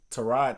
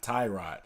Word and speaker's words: Tyrod: like everybody says and come to find out to ride til his real name is to ride it's not tie right even though I call him t-mobile they just started calling mr.